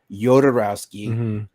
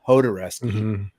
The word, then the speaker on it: Jodorowsky: fascinating documentary and it's it's funny to watch people pronounce his last name because they have Nicholas Wendy reefin um the director of Drive who pronounces it yod rowski and then they have uh the director of a movie called Hardware who calls him Hodes but the only one in the documentary who never pronounces his last name is Alejandro you know jarowski or yorski however you want to pronounce it but the guy is